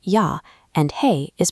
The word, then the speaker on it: jag: "Jag" is pronounced "ya" and "hej" is pronounced "hey".